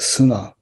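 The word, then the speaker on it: 砂: means sand and by itself is made is pronounced sunnah the last character na according to reverend furumoto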